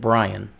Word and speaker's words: Brienne: Her name is spelled like Brienne, but she and everybody else pronounces it Brian.